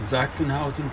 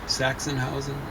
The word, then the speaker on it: Sachsenhausen: So you ever heard of a place called Sachsenhausen, Pauline? No. Sachsenhausen is the way you mispronounce it, Sachsenhausen.